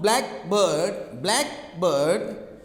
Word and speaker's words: blackbird: For example, noun, blackbird. So you stress on the black.